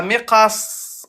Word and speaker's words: مقص: Et à l'arrêt, comment on va le prononcer? مقص. Voilà. Miqas.